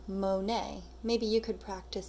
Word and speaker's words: Monet: It has a T at the end, but he's French, so we don't actually pronounce the T. So we pronounce it saying Monet.